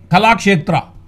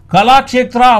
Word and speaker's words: கலாக்ஷேத்ரா: KALASHETRA கலாக்ஷேத்ரா, கலாக்ஷேத்ரா. ஏன்னா எதுக்காக spell பண்ணி கரெக்டாக ப்ராப்பராக ப்ரொனவுன்ஸ் பண்ணுறோம் அப்படின்னு சொன்னால், கலாக்ஷேத்ரா அப்படின்னு பேரை கூட ஒழுங்காக சொல்ல தெரியாதவங்களாம் பேரு கெடுக்க வந்துட்டாங்க அப்படின்னு ஊருக்குள்ளே போயினுக்குது.